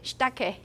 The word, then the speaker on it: shiitake: If you know Japanese, you should know that sometimes you don't pronounce all the vowels. So in this case, this E sound could be devoiced. It could be very weak. Usually you say shiitake, right? But you can also say shiitake, shiitake, shiitake. Do you think I actually pronounce the E sound? You can record me using prod. I can bet you that I didn't pronounce that E sound.